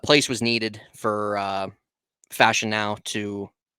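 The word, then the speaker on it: Fashanu: to know about the the Raiders organization uh fashion now that's how steel dog says it's pronounced fashion now there you go fashion now fashion now okay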